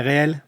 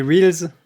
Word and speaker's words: reels: Qui sont en fait les reels. Hm hm. Donc les bobines de cinéma en fait ou des voilà. Ou de bobines d'enregistrement. Mais les gens le prononcent réel alors que c'est des reels en fait.